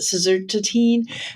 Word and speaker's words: suvorexant: Baruchy's been talking to me about you have to pronounce it suvorexant, that's hopefully going to be approved today.